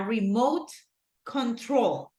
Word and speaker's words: remote control: this one right here notice a remote control right the stress syllable goes in troll a remote control can